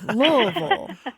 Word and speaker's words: Louisville: fellow louisvillian too and you pronounce it correctly Lille what about nine pronunciations for that City yeah but the correct one is when you kind of swallow it like like you just did right Barb what's